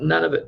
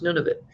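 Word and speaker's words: Nunavut: the none of it some people call it none of it but it's nun of it right yeah it means two different things none of it and nun of it that's right exactly yes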